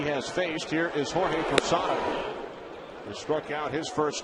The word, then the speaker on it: Posada: Posada came in to pinch run for Wade Boggs. And then a rare gaffe, Shepard pronounced Jorge's last name Posado instead of Posada.